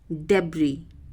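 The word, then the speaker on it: debris: भंडार या गुप्त जगह डाबड़ी इसमें एस साइलेंट रहेगा जो लास्ट में जो ऐसे वह साइलेंट रहेगा तो इसका हिंदी मीनिंग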